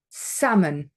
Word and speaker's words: salmon: knack for it then L is silent when it is before another L um d f m or k so for example before an M calm bom okay salmon okay when it's before an